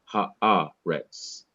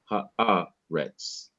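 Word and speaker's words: הארץ: syllable immediately before it, there is an accent mark indicating that I should slow down and pause a little bit before pronouncing the last syllable, haaretz, haaretz.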